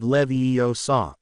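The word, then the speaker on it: Leviosa: hermion shook her head it looks like a lot of these words are from Latin that would make it levo saw where do you learn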